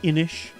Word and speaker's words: Inis: kind of reminds me like like I have a board game that's like it's like spelled like I N I S but it's pronounced inish.